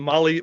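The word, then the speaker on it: Mahle: And for the podcast listeners, Molly is spelled M-A-H-L-E.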